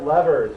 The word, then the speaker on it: lever: The other bas basically the other type of machine because they're all either incline planes are levers or levers. By the way both pronunciations are correct. Lever or lever.